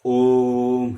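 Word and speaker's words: ॐ: जो ओम का प्रयोग हम लोग करते हैं, ओम नहीं, यह ओम है। यह बीच का ध्वनि 3 गुना अधिक मात्रा में विस्तार होने के कारण इसे प्लुत कहते हैं।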